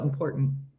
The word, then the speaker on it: important: Nobody pronounces that T. They just go important.